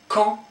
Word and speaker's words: camp: Camp, don't pronounce the P here, camp.